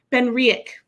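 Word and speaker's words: BenRiach: He says, um, more is it Ben, how do you pronounce it? Ben, Ben, Ben Riick, Ben Riick.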